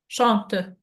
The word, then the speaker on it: chante: Chante. Chante You bien. remember the silent letters? We don't pronounce NT.